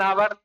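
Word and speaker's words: hour: तो देखो यच से भले ही साउंड शुरू हो, कोई दिक्कत नहीं है, यच से वर्ड शुरू है, यच से, लेकिन जब हम यच ओ यू आर को पढ़ते हैं तो हम लोग आवर पढ़ते हैं, आवर।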